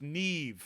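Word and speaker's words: Niamh: Dude, Niam is pronounced Neve.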